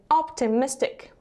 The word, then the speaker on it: optimistic: Здесь получается два ударения в этом слове. Optimistic.